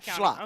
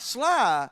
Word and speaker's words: Schley: Schley. Okay. Schley. Not sly, but Schley.